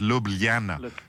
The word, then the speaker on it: Ljubljana: Ljubljana. It's that middle L that's tricky, Cyril, isn't it? Because I could do Ljubljana, but it's Ljubljana.